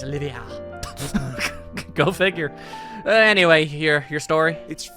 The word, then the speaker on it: Olivier: I really actually have just been calling this guy Oliver for, like, years. But no, he's Olivia.